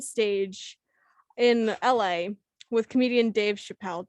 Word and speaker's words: Dave Chappelle: in LA with comedian Dave Chappelle. Did I say his name right? Yep. Yes, you did. Yeah. Yes, Dave Chappelle.